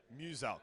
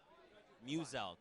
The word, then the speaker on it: Muselk: Muselk. So it's like muse and elk. Muselk. It's very easy, okay? Even I had to know. There you guys go. Muselk.